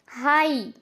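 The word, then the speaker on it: high: किसी वर्ड के लास्ट में जीएच आए तो जीएच हमेशा साइलेंट होता है। तो चलो यहाँ पे भी एग्जांपल्स के थ्रू समझते हैं। हाई, साई, थाई, तो यहाँ पर भी आप देखिए लास्ट में जीएच आ रहा है।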